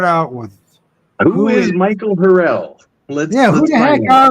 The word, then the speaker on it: Harrell: from Now, the it's not Herald. Harrell, or it's Harrell like Barrel, Gotcha. or like Will Ferrell, spelled the same way.